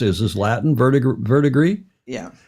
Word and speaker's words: verdigris: Here are some facts about how would I pronounce it? Is this Latin? Verdigris? Yeah. Verdigris.